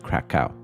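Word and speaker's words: Kraków: Take a walk with me down Krakow, or as we say in English, Krakow. The real pronunciation is obviously the Polish one, not the American one, but bear with me.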